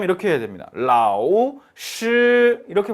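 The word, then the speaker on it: 老师: 그런데 정확하게 발음해 줄 앎 이렇게 해야 됩니다 라오 씰 이렇게 발음 해줘요 흠 뭔가 없애 카 잖아요 그럼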